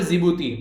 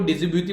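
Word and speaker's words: Djibouti: एक तो है इरिटेरा, दूसरा यहाँ पर जिबूती, डी साइलेंट है यहाँ पर, कई बार मैं भी इसको डिजिब्यूटी बोलता था, पर लेकिन फिर इसका प्रोनाउंसिएशन जब सुना तो समझ में आया जिबूती।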